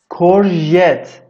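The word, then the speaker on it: courgette: زیکینی یا کورژت، این جی رو ژه میخونن، کورژت.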